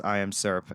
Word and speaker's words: IAMSVRP: Um, like he started pronouncing it as I am syrup.